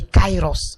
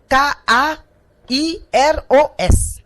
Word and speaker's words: Kairos: chronométrer et donc ça veut dire chronos et Kairos alléluia donc nous allons déjà parler du Kairos